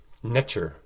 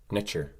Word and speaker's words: Neter: Neter was actually pronounced netcher, extremely close to the English pronunciation of nature, netcher.